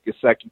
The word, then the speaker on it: Gesicki: But the Mike Gesicki out of Penn State I think I'm pronouncing his name Gesicki, correct. no, it's Mike Gesicki, yeah.